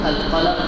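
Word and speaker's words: القلم: আমরা আজকে আলোচনা করব ইনশাআল্লাহ কোরআন মাজিদের একটা সূরা আছে, সূরাতু আল কলাম থেকে। সূরাতুল কলম। কলম শব্দের অর্থ কলম, বাংলায় আমরা কলম বলি, আরবিতে একটু উচ্চারণটা একটু অন্যরকম হয়, আল কলম।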